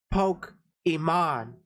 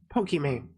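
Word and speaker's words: Pokimane: that we all know it was supposed to to be poke Iman like that's how you're supposed to pronounce it but people just went with poke m i mean people are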